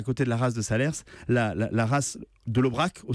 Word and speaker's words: Salers: le célèbre village de salers on dit alors là attention un petit conseil ont dit salaires parce que si vous voulez faire couleur locale le s ne se prononcent pas alors évidemment le salaire